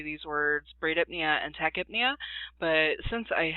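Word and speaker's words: bradypnea: to say them but I was taught braid apnea tachypnea and hybrid Nia so that is how I teach my students pronounce these words so somebody if you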